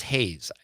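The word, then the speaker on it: Hegyes: I think it's pronounced Hayes. Correct me if I'm wrong.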